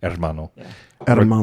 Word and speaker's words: hermano: r adamando pretty close you say hair I say the H is a little bit more silent hermano regardless I think I